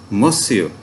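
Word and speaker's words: Monsieur: तो इसमें आपने ना तो एन को प्रोनाउंस करना है और ना ही लास्ट जो आर है उसको, तो ये बनेगा मोसियो, राइट?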